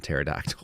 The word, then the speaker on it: pterodactyl: of serious uh but the p is silent and pterodax like what the hell